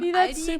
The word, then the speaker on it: Aldi: In English, people usually pronounce this Aldi. I think I've also heard Aldi before, but I think most people say Aldi. Or they also sometimes add an S that isn't there in the end and say Aldis. In Germany, we just say Aldi.